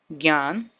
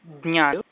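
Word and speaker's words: ज्ञान: In Hindi, this symbol is pronounced as gya. For example, Gyan, Gyani, Gyandev, Gyaneshwar, etc. In Marathi, this symbol is pronounced as Jna, something like saying the, na, and ya together. Jna. So the words will be Jnana, Jnaneshwar, Jnani, Jneya, Jnata.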